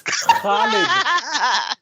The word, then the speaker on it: Khalid: It's from the epiglottis, Tiger. Khalid. Not Khalid, not Khalid. Khalid. That is amazing. Sorry, I had to. Those 2 points kind of stood out to me. I had to make it. Sorry for the eardrums. I busted while pronouncing that name correctly, but it's Khalid.